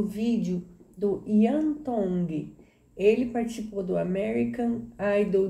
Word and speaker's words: Tongi: You pronounce the T's like a D in the Tongi culture.